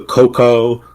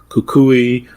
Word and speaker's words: Cucuy: There's the cuckoo, the coco, cucuy, cuckoo, cucoy, It's pronounced different ways in different places: Cuba, Costa Rica, Colombia, Mexico.